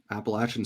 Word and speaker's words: Appalachian: at again for it because it's not Apple.